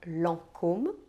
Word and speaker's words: Lancôme: É o tal do AN e N, que se pronuncia en. Pode se escrever tanto com AN, como em Air France ou Lancôme, quanto com EN, como em Givenchy ou L'Occitane en Provence.